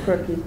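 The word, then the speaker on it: Rucky: And how do you pronounce it? Mistake. Pardon me? Mistake. Mistake? Oh, crookie.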